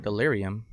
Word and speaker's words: delirium: this word delirium that's how you say it delirium but oh this messes with my eyes okay